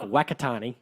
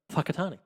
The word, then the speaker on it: Whakatane: It's spelled like Wakatani, but it's pronounced Whakatani.